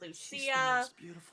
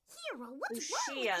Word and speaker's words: Lucia: I've seen it pronounced Luchia. K is in point Mermaid Melody. And now I guess you can also say it. Lucero Lucia is how she said it with a shush sound.